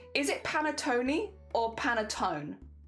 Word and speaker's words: panettone: I don't know if it's panettone or panettone. There's silent E. Okay, so it is just panettone.